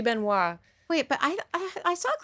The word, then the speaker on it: Benoist: tell me for sure I think you pronounce it Ben was right Benoist Beno it should be Beno but I I saw